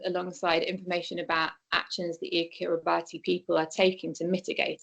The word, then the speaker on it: Kiribati: And this is illustrated by introducing them to Kiribati, which is how you pronounce the island's name.